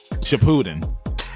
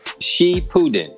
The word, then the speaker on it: Shippuden: for some time now and she put it shapuden did i say it wrong it's uh she putin yeah she putin because they like they're